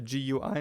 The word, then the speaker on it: GUI: well it's drawn on the gooey layer or the GUI layer depending on how you like to pronounce it and uh because of